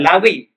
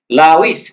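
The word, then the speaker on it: Levi's: yang dibuat oleh lawi Li itu bacanya lawi bukan lawis bacanya Siapa lawis lawis ini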